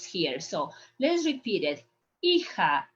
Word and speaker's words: hija: Hija is not Aija, is hija. Remember the first lesson we said that the H, you don't pronounce the H in Spanish when it's coming at the very beginning of the word.